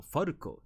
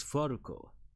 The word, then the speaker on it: Falco: And below it is my title in katakana, the fu, okay, the letter fu, little a, ru, and ko, Falco. It can be pronounced as Falco.